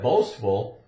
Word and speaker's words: boastful: uh we call that boastful and it's got the St where you can hear the T in it so it's St boastful